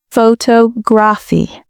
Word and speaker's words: photography: But in the word photography, the stress shifts to the second syllable, photography.